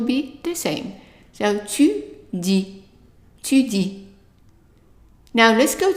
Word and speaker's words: dis: And then the next word is DIS, and the I is pronounced as an E, and the S is silent, so it's di, di.